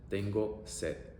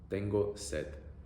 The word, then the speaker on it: tengo sed: And in a similar fashion, if you want to say I'm thirsty, you can say tengo sed, tengo sed. Literally it means I have thirst. E-o-e, E-o-e, tengo sed, tengo sed.